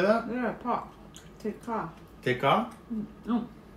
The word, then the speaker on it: thịt kho: The thịt kho. How do you say that? Yeah, pork. Thịt kho.